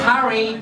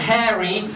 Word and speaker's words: Harry: we both pick thous it's Harry not hairy don't try act you can't just change the way you say my name actually I heard you